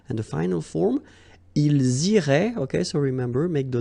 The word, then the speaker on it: iraient: And then if you look carefully, you get A-I-E-N-T. Okay, but then phonetically it goes like eh. Okay, so technically these form and these forms here are pronounced the same way, and it goes like irait.